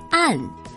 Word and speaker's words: 胺: 尚潮流，多巴胺的胺经常被误读为安，其实正确的读音是安。